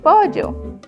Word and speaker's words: pollo: sobre la mesa un pollo que se escribe con una p y una o o y sigue la l con otra L y una o yo pollo el siguiente animal es